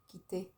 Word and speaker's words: quitter: Quitter, quitter. So a Q and a U is a que in French.